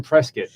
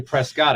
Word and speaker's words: Prescott: we got married in Prescot Arizona and I said it right I didn't say Prescott I said presc hey it's all right